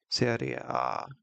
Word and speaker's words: Serie A: Also stats wise, not just because Serie A is also Serie A actually is Serie A. Is how you pronounce it.